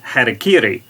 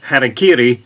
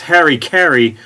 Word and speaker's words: harakiri: it's also known as harakiri many americans have come to mispronounce harakiri as harry kerry who was in fact